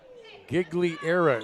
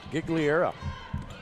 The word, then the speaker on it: Gigliera: Gigliera is how they say they pronounce this. So that's what we're going to go with. Gigliera.